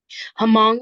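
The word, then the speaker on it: Hmong: we were discussing today hamong is how they say it orong hamong uh we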